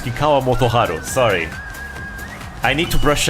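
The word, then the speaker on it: Kikkawa Motoharu: another name wrong everyone it's not Kwa motovo it's Kwa motoharu sorry I need to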